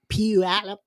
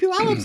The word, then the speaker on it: Puyallup: And I know the real pronunciation of Puyallup, the Native American pronunciation. The name of it is called Spishpillup.